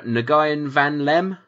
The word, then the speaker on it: Nguyen Van Lem: The execution of alleged Viet Cong murderer Nguyen Van Lem, I want to say. Yep. That's how you pronounce it.